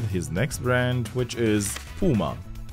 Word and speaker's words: Puma: Yes, the other brother started his next brand, which is Puma. Pronounced normally as Puma, like the animal.